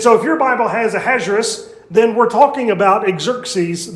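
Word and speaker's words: Ahasuerus: In the Bible, uh his name is Ahazerus. Uh that is the pronunciation of his Hebrew name. That's the Hebrew version of his Persian name, which I promise you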